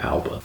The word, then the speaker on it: Alba: It looks like Alba, like Jessica Alba. It's got epenthesis, so it's Alba.